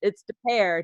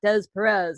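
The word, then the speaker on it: Des Peres: Yeah, she's like, no, it's De Pear, not Des Perez.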